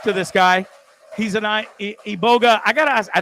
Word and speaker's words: Iboga: And I always wanted to call it Iboga for some reason, but it's Iboga, right? Am I saying it right? You call No, Iboga is fine. Iboga is good.